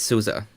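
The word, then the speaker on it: SUSE: cute and uh and it's souza not sue's not susie it's souza yeah but i think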